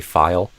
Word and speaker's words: file: And I think file could be a little more clear too. You did some sort of kind of over reduction of it using a full. I forget exactly what you said, but I would say file, using a file.